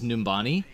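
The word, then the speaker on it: Numbani: there's something and by the way I did pronounce it correctly earlier it is numani but the map that we are talking about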